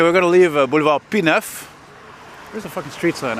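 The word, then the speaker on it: Pie-IX: Pineuf, which is a French word, just like Sherbrooke. Or maybe Sherbrooke isn't, but Pineuf is, and look at the way it's spelt, you see? With Roman numerals, no less.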